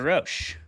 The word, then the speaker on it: Rosch: Our debaters tonight are going to be Jeremy Hudson and our guest, Peter Rosch. Peter, thank you so much for coming on the show, man. I am pronouncing your name correctly, I hope.